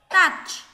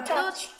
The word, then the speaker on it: touch: Touch. Không được đọc là touch. Touch. Nó là âm A, thấy chưa? Âm A ngắn, các em phải phát âm chính xác thì mới làm bài tập được.